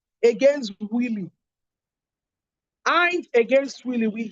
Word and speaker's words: Wylie: See also the case of Hines against Willie. Hines against Willie. We spell Hines as INNES. Hines against Willie. Willie is spelled WYLIE.